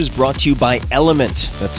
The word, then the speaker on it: LMNT: tip this episode is brought to you by element that's spelled lmnt what is element it's a delicious